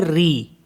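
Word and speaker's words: riz: होता है टू ईट आर आई जड इसको पढ़ते हैं री जड को साइलेंट कर देते हैं री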